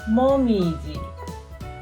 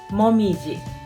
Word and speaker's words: 紅葉: country as Maple Leaves we read it as Mom easy Momiji okay so this is